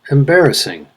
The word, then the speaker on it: embarrassing: out nostril second syllable embarrassing third syllable professor first syllable successful